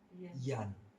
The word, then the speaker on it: Jan: Dalam bahasa Belanda, J itu pengucapannya bukan J, tapi Y, Jan, dan itu nama Belanda.